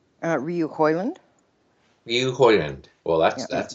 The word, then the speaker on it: Rioux-Hoiland: how do you say your last name uh Ryu holand Ryu hyand well that's that's a interesting name